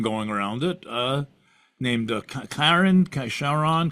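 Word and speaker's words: Charon: around it uh named Kiren Shon K Chiron something like that it's actually Chiron c h a r o n or depending I've heard it pronounced Karen uh but it's not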